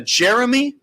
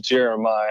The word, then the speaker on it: Jeremiah: so patiently I can't tell is that a Jeremy Jeremy are you there hey I'm here my name it's it's pronounced it's Jeremiah how are y'all doing today Jeremiah I apologize